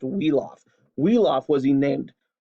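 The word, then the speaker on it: Wiglaf: 36 starts this guy's name is wheel off WI GLA f pronounced wheel off wheel off was he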